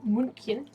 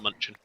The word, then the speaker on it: München: to Germany, Munich specifically, or München, I believe is how it's pronounced. I always call it Munchen. No. Munchen. München. It's got a fun umlaut in it and everything.